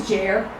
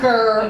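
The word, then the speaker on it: Ger: So after 5 minutes, I'm thinking, I don't want people to be saying, his name is Jair, it's spelled G-E-R. Everyone will call him Gair or Gur or something.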